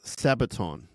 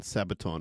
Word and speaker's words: Sabaton: to a band called I think it's called pronounce Sabaton sa a b a t o n Sabaton and he sent a link of a pretty